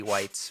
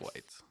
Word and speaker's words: Weitz: It's Weitz. Fights. I would think that would be Weitz, I think but it's Whites.